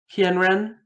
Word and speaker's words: Kienren: It's sort of like two and a half syllables. Kien is kind of a slurred two syllables into one. Kienren.